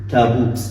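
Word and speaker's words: تابوت: Alif in Arabic is muraqqaq, right? It comes light, but sometimes it becomes bulk or magnified when it comes after a magnified letter. For example, we say tabut. So, tabut.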